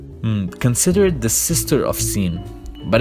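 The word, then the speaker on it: سين: Then we have sin, and we pronounce it like a normal S, like sayyara, which means a car.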